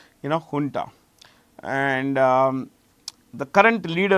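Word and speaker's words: junta: by the military ha this J is pronounced H remember this ha okay we found a dance the jarandi dance ha folk dance. So this is honta here and u so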